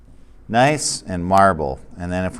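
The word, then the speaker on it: gneiss: write it out and this is pronounced nice all right nice and marble and then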